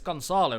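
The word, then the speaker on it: Gonçalo: I mean, I can say like instead of so you know how people say Goncalo or Goncalo with the C with a little dash below it. I know how to pronounce that name.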